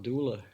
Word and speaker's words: Dula: It's not Dooley, it's Dooley? No, his name was Tom Dula.